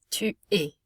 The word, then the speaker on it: tu es: Tu es, es, makes an A sound at the end of a word, tu es.